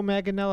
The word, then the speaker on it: Manganiello: They are keeping Joe Manganiello. That's how you say his name.